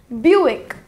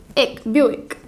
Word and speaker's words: Buick: see k bu I see okay or say pronounce Kathy as Buick bu b e au bill bill buick buick our final car brand name is p